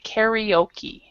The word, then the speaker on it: karaoke: In English, we pronounce it very different than in other languages. We actually say karaoke. Karaoke. Yeah, karaoke. So, and however, I think most people who have lived in other countries understand that that's not always pronounced the same.